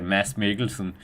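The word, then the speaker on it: Mads Mikkelsen: I mean, if you're going to say the name, you have to say it correctly. Denmark's best actor, Mass. Miglesen.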